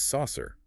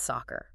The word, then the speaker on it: soccer: and pronounce it as saucer, like a flying saucer. But phonetically, those C's form a hard, sharp K. It's soccer.